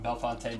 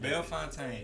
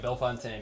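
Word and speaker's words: Bellefontaine: Me and Lam walking uh Bel I'm say it wrong. Belffonte neighbors. Bel Fontaine. Here we go. I'm getting it, man. I've been practicing when I'm sitting still. I'm like Bel Fontaine.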